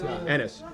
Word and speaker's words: Ennis: Am I pronouncing it Ennis? Ennis.